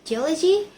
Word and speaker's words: geology: Gogi or geology. The suffici attracts stress to the syllable before the suffix. Geology.